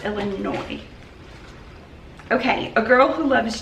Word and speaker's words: Illinois: that pretty sure it's Illinois okay a girl who loves Jesus said a lot of people told me thank you do not pronounce the S so it is Illinois I wrote it down